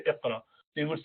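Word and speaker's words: اقرأ: So if you say Aq, or in Quran it says Iqra, so how would you say Iqra?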